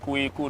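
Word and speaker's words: Quaque: This is for a black man we call Philip Kwaku. The name is pronounced Kweku, not Kwaku. Okay.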